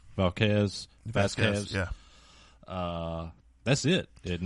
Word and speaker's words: Vasquez: Val how do you say her name vquez Vasquez yeah uh that's it isn't it um no